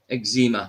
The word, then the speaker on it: eczema: Like no, and yeah, eczema. We call it eczema in Scotland because the way it's spelled, because it's spelled ECZEMA, eczema.